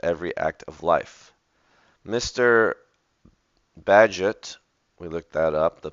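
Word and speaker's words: Bagehot: and interlaced With Every Act of life Mr badget we looked that up the pronunciation physics in physics and politics Endeavors to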